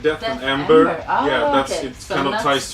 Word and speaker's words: Deathember: hard to pronounce yeah it's actually pronounced death amber like death amber yeah that's kind of